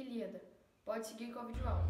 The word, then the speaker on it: Ilíada: erro de pronúncia que ao invés de dizer Homero e ilada se pronuncia Homero e Ilíada pode seguir com a